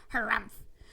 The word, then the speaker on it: harrumph: read this book aloud please pronounce harrumph exactly as it is spelled for that is how he said it harrumph do you know until